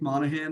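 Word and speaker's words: Monaghan: My name is Monahan. The G is silent like lasagna.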